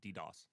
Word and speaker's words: DoS: how to say this do you abbreviate it like DDOS attack it's that's dos dos okay I was like please